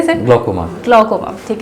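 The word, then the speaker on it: glaucoma: बात करते हैं ग्लाइकोमा का। आई थिंक मैं इसकी सही प्रोनाउंसिएशन कर रही हूं। ग्लाइकोमा कहते हैं ना सर। ग्लकोमा।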